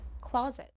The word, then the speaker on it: closet: a long o sound this one has short o sound so it's not close yet it's closet and since we're already